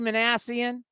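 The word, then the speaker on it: Minasian: You're getting the chance to prove to Perry Manassian. Did I say it correctly? Yeah, Manassian, you got it.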